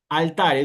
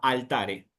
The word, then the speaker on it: altare: Es decir, altare, ¿dónde voy a poner el acento en la palabra cuando la vea? En la A, altare, ¿sí?